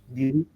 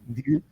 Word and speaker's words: Ndiri: here, the name Ndiri, the D is as it is in French and in English.